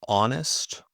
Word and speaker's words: honest: For example, honest or honor.